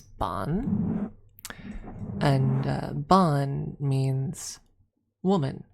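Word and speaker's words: bean: B e a n is bon and uh bon means woman essentially whereas she means fairy or fay or spirit depending.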